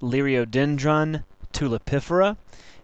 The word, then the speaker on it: Liriodendron tulipifera: tree or tulip popler the scientific name is pronounced Lio dendron tulipifera and it's a member of the Magnolia ACA